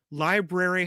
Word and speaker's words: library: a brew in it library has a rare in it and clothes has a